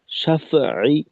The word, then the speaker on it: شفع: ওয়ালায়ালিন আশর, وليال عشر والشفع والوتر، والشفع والوتر والشفع والوتر، والشفع والوتر এখানে ফায়ের উচ্চারণটাকে আরেকটু শিথিল করা, শাফঈ, শাফঈ। ফা হলো একেবারে খুব দুর্বল একটা হরফ।